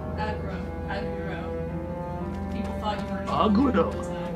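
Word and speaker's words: Agro: Saying that it's aggro, not Argo.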